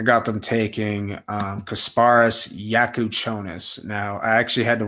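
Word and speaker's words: Jakučionis: Um but I got them taking um Kasparus Yakuchonis.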